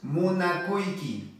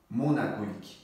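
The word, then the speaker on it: munakuyki: If you want to say I love you in Quechua, we have to pronounce munakuiki, or we have to say munakuiki. Okay? Munakuiki.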